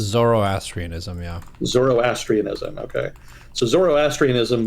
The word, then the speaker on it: Zoroastrianism: Is that how it's pronounced? Zoroastrianism, yeah.